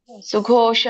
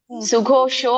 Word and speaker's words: ಸುಘೋಷ: ಒಂದೇ ಇಟ್ಟಿದೀನಿ ಶ್ಲೋಕ ಸುಘೋಷ ಮಣಿಪುಷ್ಪಕವು ಸುಘೋಷೋ ಮಣಿಪುಷ್ಪಕೋ ಶೋ ಅಲ್ಲ ಮಾತಾಜಿ ಸುಗೋಶೋ ಅಲ್ಲ ಸುಘೋಷ ಸುಗೋಶೋ ಮಣಿಪುಷ್ಪಕೋ ಸರವಾಯ್ತ